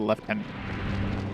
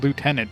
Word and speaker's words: lieutenant: Why does why does Britain call them left tenants? Ha. Ah. Yeah, exactly. It's like clearly spelled lieutenant. How the hell do they pronounce that left tenant? That's like nowhere near how it's spelled.